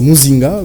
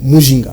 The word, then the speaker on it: Muzinga: Et vous savez que chez nous, au Katanga, c'est Muzinga. Alors, en fait, mon nom, c'est Muzinga, mais il y a eu... un problème de phonétique et prononciation. Mes enseignants de l'école primaire, qui, au lieu de Muzinga, avaient mis sur mon certificat d'études primaires Mujinga.